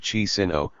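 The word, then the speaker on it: Chișinău: The name of Chisinau, made into the new Soviet National Republic's capital, was transliterated from Moldavian Cyrillic, as Chisinau. The pronunciation of both versions remained identical, though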